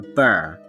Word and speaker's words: burh: In the 9th century, King Alfred fortified it, a castle built, and it became a burh, now pronounced borough.